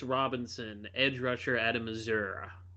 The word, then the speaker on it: Missouri: Edge rusher out of Missour h that's how you have to say Missouri in the United States you have to say Missour it's almost like one word there's no syllables in Missour Missour you didn't have